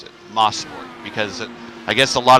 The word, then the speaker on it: Mosport: Gavin Sanders says it's Mosport. That's how you're supposed to pronounce it, Mosport, because I guess a lot of the track is named after Sterling Moss, so Mosport.